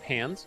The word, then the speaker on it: pans: Notice how I said pans. That's how we pronounce the word.